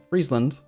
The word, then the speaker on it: Friesland: it's pronounced friesland like freeze are you just continuing to